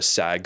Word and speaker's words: SAG: There was a lot of chatter about the SAG speech. That's how you say it. SAG, not SAG. SAG.